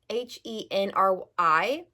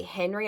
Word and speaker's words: Henri: Um, Henri, I think is how you pronounce it cuz he's French. It's spelled H E R H E N R I. So, most people would say Henry. I'm pretty sure it's Henri, but he called her